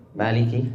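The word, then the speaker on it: مالك: Yakni ma ma ma pengucapan ma biasa aja jangan terlalu ditekan ma.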